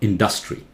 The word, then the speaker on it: industry: This one, no, not industry. Listen, here, D-U-S-C, U is in blue. So dus. In louder. Industry. Industry, right? Do not say industry. Here, dus has the accent, so the vowel is pronounced very clearly.